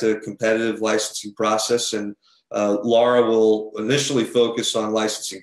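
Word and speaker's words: LARA: So Laura, as it's pronounced, will be responsible for implementing Prop 1.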